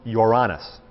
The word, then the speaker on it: Uranus: I'm making a joke Uranus strictly speaking it's pronounced Uranus is the the pronunciation now what happened was